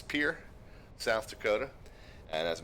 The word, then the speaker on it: Pierre: that 8 is, and what I'm told is pronounced Pierre, South Dakota. As the uninitiated, I've always said it Pierre, like the French version of the word Peter, which is always what I kind of assumed it was based on how it